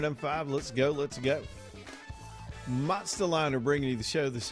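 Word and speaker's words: Monstaliner: I got to spell it for you because it's not Monster Liner. It's Monster Liner. M O N S T A L I N E R. Monster liner.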